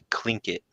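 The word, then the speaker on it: Tlingit: but it's it's it's I know they wrote it with a t but it said clink it like with like clinkers in the bottom of your popcorn bowl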